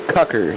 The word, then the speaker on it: Cocker: It's Cucker, like you'd say Tucker, you know. Right. So it's Cucker.